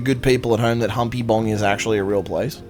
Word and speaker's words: Humpybong: But yeah, Humpy Bong. Humpy Bong. 3 syllables.